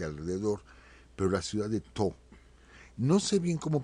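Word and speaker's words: T'ho: Se escribe T-H-O, yo entiendo que la H suaviza la letra T, entonces sería como To, algo así se sonaría.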